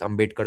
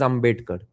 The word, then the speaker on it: Ambedkar: I think in Bengali it's written Ambedkar only. But in the last one or two years, I've heard a lot of right-wingers pronounce it as ambitkar.